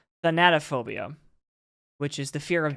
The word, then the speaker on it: thanatophobia: but I had to look up how to pronounce it it's thanatophobia which is the fear of death that's fair